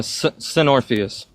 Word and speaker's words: Senorphus: Uh, Senorphus. It's a mixture between Morpheus and Sepharoth.